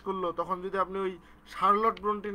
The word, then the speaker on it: Charlotte: তো এখন শার্লট Brontë বানানটা কিন্তু এরকম, তো আমি এটা মনে রাখতাম চার্লোটি, CHARLOTTE, চার্লোটি। এটা নাকি উচ্চারণ হচ্ছে শার্লট। বলেন।